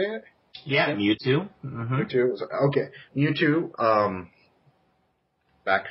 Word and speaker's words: Mewtwo: Yeah, Mewtwo.